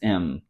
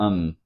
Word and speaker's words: him: this with her him his her will be pronounced as Earth him as M or um his as is color